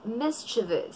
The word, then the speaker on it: mischievous: Hindi siya mischievous, kundi it's mischievous.